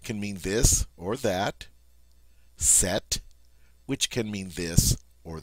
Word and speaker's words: cet: All right, you're going to use the form C-E-T, set. All right, now I know that sounds like the feminine form, but as you can see, it's spelled differently. It just has one T on the end.